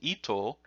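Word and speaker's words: 糸: That can be pronounced ito, which means thread.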